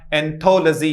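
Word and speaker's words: anthology: लजी से पहले वाले पर हमेशा स्ट्रेस लगाना पड़ेगा, तो इसका प्रोनाउंसिएशन होएगा एंथोलॉजी। क्या होगा?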